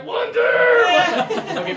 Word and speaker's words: wonder: but this one here some pressure is important wonder that's it that's really good good balance of having some pressure not crazy and not zero but right in the middle I wonder I wonder